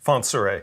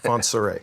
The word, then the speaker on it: Fontsere: Fontsere. Fontsere. Yes. Yeah, I always feel like I'm saying it wrong. There's a little accent over the last E. It's like Fontsere.